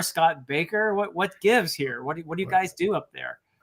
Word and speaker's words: Bakker: By the way, there's 2 K's in his name, but he pronounces it Baker for some reason. Somebody needs to tell him it should be Bakker. It looks like a Dutch name to me, but anyway, he says Baker, so I say Baker.